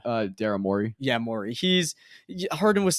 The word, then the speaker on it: Morey: Yeah, Morey.